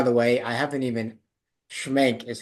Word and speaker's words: Schmenk: Sam and by the way I haven't even schank is how you pronounce your last name right okay yeah yeah